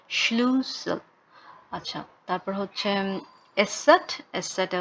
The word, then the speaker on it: Schlüssel: আর হচ্ছে স্লুশেল, স্লুশেল মানে হচ্ছে চাবি, স্লুসেল। উচ্চারণটা ঠিক ছিল না, আবার বলি Schlüssel।